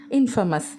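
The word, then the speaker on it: infamous: இதோட சினனிம், அதாவது இதே மீனிங் தர இன்னொரு வேர்ட் இன்ஃபமஸ். இன்ஃபேமஸ்னு சொல்லாமல் இன்ஃபமஸ்ன்னு சொல்கிறது தான் இந்த வேர்டோட சரியான உச்சரிப்பு.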